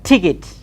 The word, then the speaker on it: ticket: is normally pronounced its final et is normally pronounced it's okay so we say ticket ticket okay and we